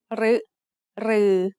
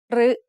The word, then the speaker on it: รึ: รึ is usually pronounced as a combination of รอเรือ and สระอึ However, there are some words in which it is pronounced as a combination of รอเรือ and สระอิ instead.